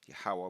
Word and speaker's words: Yahweh: They put Yahweh, sorry, it's Yahweh, true name, true pronunciation of the Most High's name is Yahweh, but they've put obviously Yahweh Restoration Ministry.